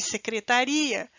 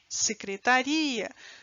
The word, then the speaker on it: secretaria: ou enunciados inteiros então há uma diferença de eu falar secretária e secretaria secretária secretaria não percebe a onde eu coloquei a força no fonema que diferenciou as duas palavras né uma da outra